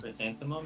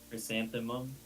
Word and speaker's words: chrysanthemum: Cristanium. Chrysanthemum is like flour. Flour. Thank you. For some reason, someone asked how to pronounce that and I didn't know.